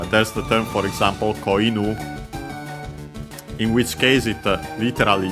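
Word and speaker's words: 子犬: But yeah, koinu, inu, accent on the last syllable on its own means dog. Koinu becomes an accent, so be careful.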